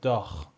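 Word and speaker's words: Dach: آ رو داریم و س های ما با صدای خ میده داخ دیگه چی مثل دخ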